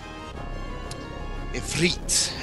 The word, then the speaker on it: Ifrit: Ifrit, I believe is how you technically supposed to pronounce it.